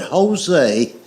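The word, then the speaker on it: José: The word Jose is J O S E, but it's pronounced with a H.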